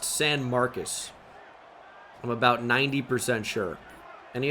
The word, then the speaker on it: San Marcos: Yeah, San Marcos is pronounced San Marcus.